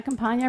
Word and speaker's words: Campanha: followed by adam cullen deanna Campania rhymes with a lasagna feels like deja vu